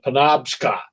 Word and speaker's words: Penobscot: to the top and and it's uh the penobscot and that's right that's the right pronunciation for that penobscot river and i think it's a predom scot